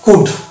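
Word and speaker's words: could: তাহলে এটা হচ্ছে উড ও ইউ এল ডি কুড formula কি আছে ও ইউ এল ডি যদি থাকে তাহলে আমরা কিন্তু এল এর উচ্চারণ করবো অর্থাৎ ও ইউ এল ডি শব্দের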